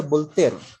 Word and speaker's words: Voltaire: a ver otros conocemos a voltaire ya veces lo van a leer como voluntad y baile exacto se pronuncia voltaire y pero se lee voltaire su nombre es francois